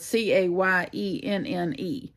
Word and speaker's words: cayenne: that because I'm Louisiana it's spelled c-a-y-e-n-n-e but it's pronounced Cayenne thank you but in